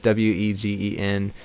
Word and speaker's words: Wegen: So I guess the Vagan picks don't really have that quality. I love the Vagan picks a lot. I hope I'm pronouncing that right. Some people say Wegen, and it's Wegen.